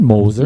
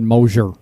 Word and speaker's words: Moser: lisp sometime soon no i said moses i said moser again go back and listen dan motion moser it just must be the crap in your mouth because obviously you can't say it correctly you thought you said it correctly you are way off all right i'm going